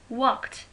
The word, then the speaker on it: walked: Walked, again L is silent.